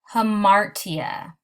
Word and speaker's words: hamartia: The first one is pronounced hamartia, and it is also sometimes known as the tragic flaw.